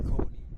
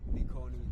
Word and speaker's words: Likoni: You stress almost every syllable right there. Likoni. Likoni. That lady that that girl taught us how to say So let me just